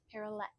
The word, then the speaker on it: parallette: Um but I also have these parallette bars. Perlet is what they are. So, it's kind of like um ballet is how it's spelled, but parallel. So, um I actually made these.